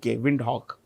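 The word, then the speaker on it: Windhoek: repeat w i n d h o e wind Hawk okay Kenya Nairobi nii R oi South Africa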